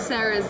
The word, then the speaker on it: Sara: Since everyone thinks Sarah's like a British name, it really isn't. But it's just pronounced Sarah, so it's just a roll of the R's.